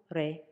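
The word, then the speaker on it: レ: Katakana re, pronounced as re, re, re.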